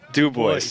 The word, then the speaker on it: Dubois: names you french guy it's like two boys do boys yeah do boys that do boy yeah boys two boys yeah so uh oh